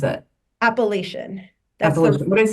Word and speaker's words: Appalachian: And so that's why I took the job at Appalachian State, which you even pronounced correctly. They're very uptight about it here. Well, how do people mispronounce it? Appalachian.